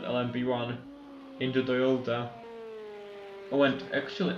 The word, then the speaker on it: LMP1: It depends on how you say it. The game calls it LMPH. Most people call it LMP1.